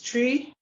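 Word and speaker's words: Twi: I decided that I wanted to learn one of the local dialects, which is Tree, spelled T-W-I, but it's the T-W is pronounced Tree.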